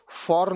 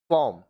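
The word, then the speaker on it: form: तो are silent रहेगा जैसे एफ ओ आर एम देखिए आर के पहले ओ क्या है एक वावल है एम क्या है एक कंसोनेंट है तो आर साइलेंट रहेगा फॉर्म इसको फॉर्म नहीं पढ़ेंगे फॉम फॉम अब देखिए ए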